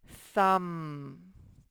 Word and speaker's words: thumb: doesn't have a picture kmb at the end of a word says so this says thumb and there's a thumb you don't even say to be thumb and then okay lk